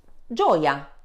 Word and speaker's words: gioia: Consonant G, followed by vowels E and E, makes a soft sound J, as in jeans. Repeat after me. G, J. An example is gelato. Repeat after me. Gelato. Gioia.